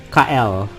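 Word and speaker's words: Kael: is it yeah his name is gonna be kyle okay yeah k-a-e-l okay what did you all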